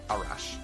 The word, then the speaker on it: Arash: Arash. It's like a rash.